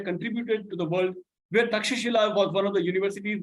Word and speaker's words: Takshashila: Then Takshashila, which in English is spelled as Takshila, but the word is Takshashila, which is in modern day Pakistan, Afghanistan border areas.